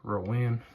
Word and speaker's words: Rowan: But I mean, really, as long as it sounds like Rowan, like what North Carolina has for their county that's just northeast of Charlotte, as long as they